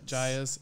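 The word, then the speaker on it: Gaea's: Is that how do you pronounce it? You pronounce it Gaia's.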